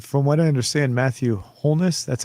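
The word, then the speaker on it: Holness: so absurd and from what i understand matthew wholeness that's how his name is pronounced wholeness yes matthew wholeness on the left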